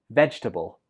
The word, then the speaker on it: vegetable: Some students pronounce this with 4 syllables, but that's not correct. It only has 3. One more time. Vegetable.